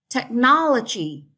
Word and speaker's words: technology: have gravity gravity so stretch on the first syllable okay technology technology is straight on the second syllable astronaut